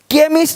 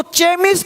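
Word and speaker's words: chemist: पता हो साउंड आपको केमिस्ट अब इसको चेम नहीं पढ़ेंगे चेम चोपड़ा को कोपड़ नहीं पढ़ेंगे इसको चेम नहीं पढ़ेंगे केमिस्ट अब देखो चोलर नहीं पढ़ेंगे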